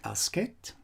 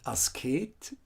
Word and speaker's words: Asket: take note here that the name is correctly pronounced as ascet and not us kate in german the german language we have the ascade ascetic in in english but her name is asked on the first emphasis on the first letter asket here da the